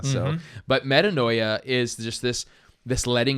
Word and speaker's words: metanoia: metanoia is that's why metanoia repentance is that's the Greek word for repentance and I like to use it because it rhymes with paranoia so but metanoia is just this this